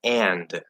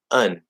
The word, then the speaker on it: and: So it's like we have these variations of things where you're taught and is pronounced and. Maybe it reduces to un, but it's and, right?